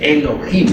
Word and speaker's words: Elohim: Diosas y dioses, eso significa Elohim, o mejor dijéramos Elohim, porque la H se pronuncia como J.